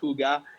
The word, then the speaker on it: hygge: you guys know higi which actually is pronounced hyuga you know there's the